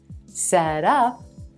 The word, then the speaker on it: set up: back to set up if i shift the stress to the second word up set up this becomes a phrasal verb an action meaning to